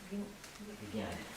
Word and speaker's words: jnani: Познавшие мудрость на санскрите называются няни. Гняни. Жняна или гняна, да. По-разному просто произносится. Jnana. So the one who is having jnana is jnani. Jnana means knowledge. Гняна значит знание. Тот, кто постиг знание, называется гняни.